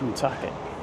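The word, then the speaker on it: Woonsocket: Then there's a little town just as you cross into River Island called Wak. No, it's one socket.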